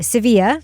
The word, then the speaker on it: Sevilla: Now, I know for you, Toby, I am pronouncing Seville wrong, as we learn in the documentary, all these Spanish-speaking Americans say Sevilla, right?